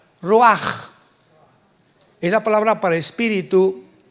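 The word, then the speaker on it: רוּחַ: Pero la ch en el hebreo se pronuncia como j. Roaj.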